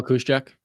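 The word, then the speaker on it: Juszczyk: how do you say his name ju Kyle kusek oh kusek yeah and then you have Alec inold um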